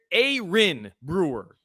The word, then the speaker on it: Aaron Brewer: Kamar it's CA and Aaron Brewer is listed on the Dolphin's official pronunciation toin I'm maybe I'm just ignorant uh but it's a Ain Brewer Ain Brewer not Aaron a I feel like we've